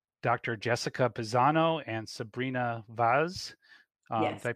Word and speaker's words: Vaz: with my guests Dr Jessica Pizano and Sabrina Vaz I pronounce that correctly yes you did Adam thank